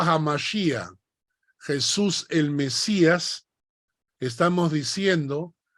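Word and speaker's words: hamashiach: segundo nombre de Jesús Mesías Mesías en realidad hamashia es una palabra hebrea hamashia ha m sh i a c h hamashia que significa Mesías Jesús se pronuncia yeshua yeshua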